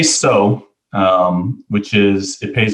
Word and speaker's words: Tso: would imagine you know you know we get tiso a lot and cow a lot we say so um which is it pays homage to general